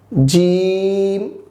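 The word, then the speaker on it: جيم: উচ্চারণ করব ইনশাআল্লাহ দেখুন আমাদের পরবর্তী হরফ হচ্ছে জিম আমি আবার বলছি জিম আমাদের পরবর্তী বর্ণ হচ্ছে জিম আমরা একটু টেনে বলবো জিম এক আলিফ টেনে বলবো ইনশাল্লাহ এরপরের বর্ণ হচ্ছে হা এটা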